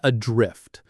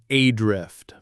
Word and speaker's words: adrift: I've heard people stress the first syllable and say adrift, but that's not quite right. Right, the stress falls on the second syllable, adrift. The first syllable is very light, almost swallowed. Adrift.